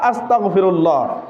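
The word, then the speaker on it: أستغفر الله: জবান থেকে আমরা সঠিক উচ্চারণ করতে হবে। আমার কণ্ঠটা সুন্দর করে শোনেন, আস্তাগফিরুল্লাহ। জবান খুলে জোরে বলেন, আস্তাগফিরুল্লাহ, আস্তাগফিরুল্লাহ।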